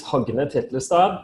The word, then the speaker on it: Hogne Titlestad: Yes, so my name is Hogne Titlestad. That's how it's pronounced in my native tongue.